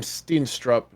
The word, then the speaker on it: Steenstrup: I would pronounce that last name Steenstrup, by the way.